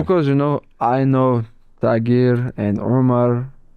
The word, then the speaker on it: Tagir: It's Tagir. Tiger, is that how you say it?